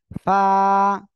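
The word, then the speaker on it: فاء: ফা কি করতে হবে নিচের পেট সামনের উপরে দুই দাঁতের আগার সঙ্গে লাগাবেন লাগিয়ে উচ্চারণ করতে হবে ফা এভাবে পড়তে হবে ঠিক আছে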